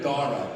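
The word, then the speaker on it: Dhara: So then I found a nice neutral Persian name, Dara, D-A-R-A. Nobody knows what it is. And then my wife wanted to Indianize it, so she added a silent H after the D.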